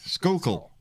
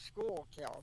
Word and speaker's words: Schuylkill: Just Just John, just say Schuylkill, Schuylkill Haven, That's Schuylkill Haven, there you go.